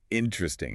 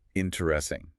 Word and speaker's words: interesting: Interesting is a great one. We almost always drop that first unstressed E sound. We say interesting, not the full 4-syllable interesting.